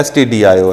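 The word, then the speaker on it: stdio: ये कौन से क्या मुराद होता है, इसको लोग उमूमन स्टूडेंट्स जो हैं गलत प्रोनाउंस करते हैं, इसको कहते हैं स्टूडियो। ये स्टूडियो नहीं है बल्कि क्या STD IO है, ठीक है।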